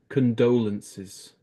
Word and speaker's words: condolences: my my condolences yeah don't say this vowel just say con condolences condolences there you go